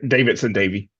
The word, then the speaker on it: Davidson-Davie: Davidson-Davie.